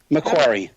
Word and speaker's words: Macquarie: penal system or the oh you like to pronounce this one for me again Gary McQuarrie McQuarrie McCoy Macquarie Macquarie Harbour which was another one on the